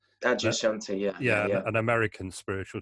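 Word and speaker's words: Adyashanti: know if this is the right way to pronounce it Adia Shanti is that right Adia Shanti yeah yeah an American spiritual teacher can you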